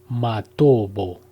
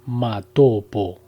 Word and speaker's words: Matobo: de las piedras redondas, Matobo, pronunciado erróneamente Matopo, en Zimbabue.